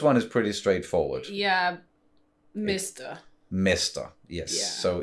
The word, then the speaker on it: mester: Yeah, mister. Mister, yes. Yeah, so it's mister. Just subbing the A with an E. Yeah, with a more like an E sound.